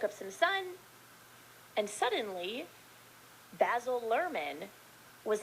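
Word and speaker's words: Baz Luhrmann: Isn't it Boz, oh yeah, you're right, Boz Lerman. Do you say it like Basil, Boz? Yeah. No, yeah, you do. You say Boz Lerman.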